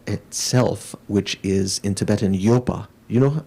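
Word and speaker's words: ཡོད: are studying tibetan so you'd say y o d but you don't pronounce the the d at the end okay yo means to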